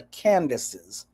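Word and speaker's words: Kandake: He was talking about the Kendakes, k e n d a k e or k a n d a k e, sometimes called or pronounced the Candaces.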